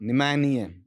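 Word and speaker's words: pneumonia: पी से शुरू होगी, पी साइलेंट रहेगा, फिर देखो NEU, ठीक है।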